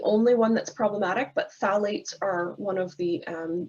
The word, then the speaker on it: phthalates: we're concerned about in our home are called phthalates i know it's a funny little word there with the ph the phthalates but we pronounce it phthalates and satellites are also hormone disruptors so when